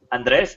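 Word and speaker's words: Andrés: So, hi, my name is Andres. Andreas, that's how you pronounce it here in Mexico.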